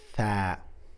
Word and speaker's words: ثاء: الحرف اللي بعد كده صعب شويه في نطقه لانك بتطلع لسانك بين ا الاسنان الاماميه بنقول بنقول بنقول ثاء مره ثاني ثاء ثاء